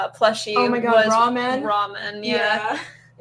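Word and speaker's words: Rawmen: Oh my God, was ramen. Ramen, yeah. Spelled like raw, R-A-W, and men, M-E-N.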